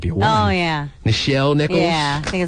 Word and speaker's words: Nichelle: It's Nichelle. Oh, it might be a woman. Oh, yeah. Nichelle Nichols?